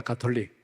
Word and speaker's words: 가톨릭: 세계 교회를 가톨릭이라고 합니다 가톨릭 가톨릭 혼은 우리가 카톨릭이라고 발음을 하는데이 가톨릭이라고 하는 그 말뜻